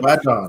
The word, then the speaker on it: Badon: Did I say it right that time, Michael? Badon. Yep. Badon. All right, there we go. Is that Creole name? Yes, sir. Louisiana.